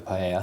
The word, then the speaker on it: paella: It was quite important with a paella. Yeah. Did I say it right? Say it again. Perfect. Paella, like Spaniard.